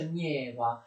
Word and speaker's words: Neva: Lui realizza in pochi anni un'immensa città sul Mar Baltico, alle foci del fiume Neva, che si scrive Neva e si pronuncia Nieva, in un territorio, attenzione, che era di sovranità svedese, quindi non avrebbe neppure potuto farlo.